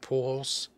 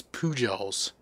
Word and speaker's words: Pujols: learning about baseball and heard the name albert pools i asked my mom to pronounce it and being the kid that i am immediately i thought pool holes poo holes oh you've pronounced the j it's pujols pujols you should do a sports flicks card